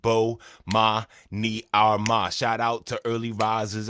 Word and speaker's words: Bomani Armah: to the morning announcements imma say my name so you can pronounce it Bo ma ni Arma shout out to early